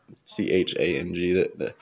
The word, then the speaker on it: Chang: Pronounced Chung in Thai, but Chang, the green sign up there.